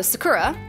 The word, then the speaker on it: sakura: Oh, sakura.